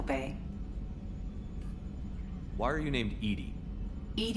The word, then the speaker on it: EDI: why are you named Edie Ed is the phonetic pronunciation of e di that is an acronym for enhanced defense intelligence how are you getting